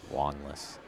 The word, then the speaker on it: Wanless: Jeffery Wireless Wallace Wallace Wanless it's pronounced like as if it was an O and not an a long list yeah I could probably